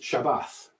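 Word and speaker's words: שבת: that's this word here pronounced shabbat and one thing i want us to notice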